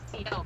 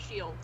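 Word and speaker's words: Ciel: But in the game, they pronounce it Shield instead of CL, and it bothers me because I'm like, no, that word is CL, not Shield.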